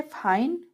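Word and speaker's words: fine: next है फाइन, फाइन में भी ई साइलेंट है, एन जो है कॉन्सोनेंट है, एन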